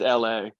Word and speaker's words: LA: say her name properly it's just la like the city it's oh okay so